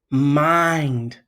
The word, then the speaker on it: mind: Words that end in ND and a vowel is in front of it, you say the long I sound. For example, mind.